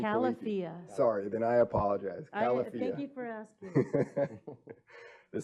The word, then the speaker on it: Califia: Califia. Thank you for asking. The second, I know how to pronounce these ones.